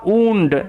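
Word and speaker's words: wound: caused যার কারণে আ উন্ড একটা ক্ষত হয়েছিল উন্ড কথার অর্থ হচ্ছে ক্ষত হওয়া এখানে এই যে ডব্লিউ ও ইউ N sorry W ও ইউ একত্রে উন্ড হচ্ছে এইটা মাথায় রাখতে হবে ওকে দা উন্ড ক্ষতটি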